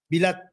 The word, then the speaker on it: bilat: yan eh iba pero iba ang bigkas yung emphasis nasa first syllable o bilat o ganun